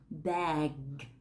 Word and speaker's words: bag: Từ thứ hai yêu cầu bạn mở miệng rộng hơn một chút. Và hạ lưỡi xuống thấp hơn: "bag."